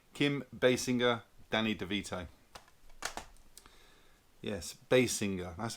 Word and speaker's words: Basinger: Yes, Basinger. That's how she pronounced that.